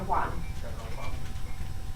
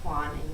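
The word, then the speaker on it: Aucoin: Kevin O'Quan. He's amazing. It's spelled A-U Coin. It's Quan, and O'Quan, he was probably a master of it.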